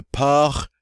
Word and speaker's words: porc: All right, normally we do pronounce C at the end of French words. It's one of the 4 consonants that we normally pronounce. And I have to catch myself on this one because this is one of the exceptions to the rule.